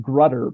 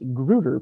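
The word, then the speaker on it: Grutter: being produced that uh for a number of years in the classroom I was pronouncing the name of this case wrong uh forever I had been pronouncing it grudder but uh that is not how miss gruder pronounces it um so here's sort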